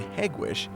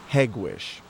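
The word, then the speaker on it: Hegewisch: For nearly 20 years, this plant in Hegwish produced the Ford Taurus, America's bestselling car.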